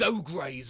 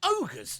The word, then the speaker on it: ogres: game and he said let's go kill those ogs over there I was like what you mean ogres and he replied yes but it's pronounced I'm